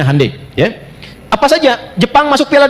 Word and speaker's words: Hyundai: Ya, Hyundai saya tahu bahasanya dibacanya Hai ya.